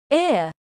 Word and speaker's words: ear: Ear is pronounced with two vowel sounds.